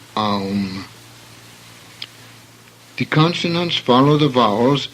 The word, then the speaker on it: aum: AU is a diphthong, as in house, hence aum.